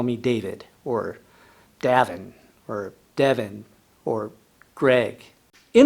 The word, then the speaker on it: Davin: My name is Davin, D-A-V-I-N, Davin, just like David, but with an N.